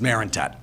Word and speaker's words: Marentette: because a lot of people usually tend to mispronounce the last name it's Marinet and see I'm glad I can make you